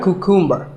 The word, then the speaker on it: cucumber: It's not a cucumber. Think of it like saying the letter Q and then cumber like number.